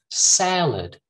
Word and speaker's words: salad: salad salad see here this is a very good example i think um to show that syllable stress right when you put the stress in that first syllable sa and then lid salad all right you can see